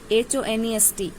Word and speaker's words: honest: Like for example, HOUR, HONEST, honest. Okay, like that, R, honest. So we write H, but we don't pronounce H.